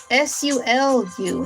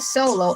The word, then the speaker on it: Sulu: And it's spelled S U L U, not Solo, S O L O, but Sulu.